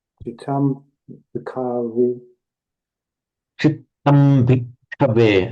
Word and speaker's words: bhikkhave: Chittam bhikkhave. Again, you've got to hold the ka.